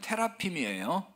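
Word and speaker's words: תרפים: 드라빔을 이제 원문 발음 그대로 하면 테라핌이에요. 테라핌인데 이제 우리말로 그냥 드라빔이라고 번역을 한 건데, 어떤 뜻이냐면은 우상이에요, 우상.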